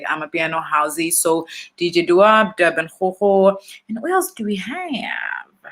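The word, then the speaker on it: DBN Gogo: It's pronounced Durban Ho, just like the city, but it is spelled DBN, and it is Ho, like go.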